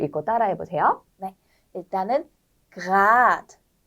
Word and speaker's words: grad: 일단은 grad, rot. 여기서는 그 공기가 목 쪽에서 나와야 되는 거예요.